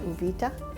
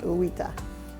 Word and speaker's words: Uvita: so it is called uita so a w instead of a v um anyway so she